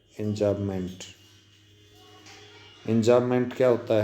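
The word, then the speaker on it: enjambment: ये आपको यहाँ दिखाया गया है, एंजामेंट, एम साइलेंट है, एंजामेंट।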